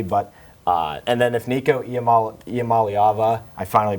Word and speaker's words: Iamaleava: But and then if Nico Iamaleava, I finally pronounced it right, if he can finally develop and have some good games, I think they can be really scary.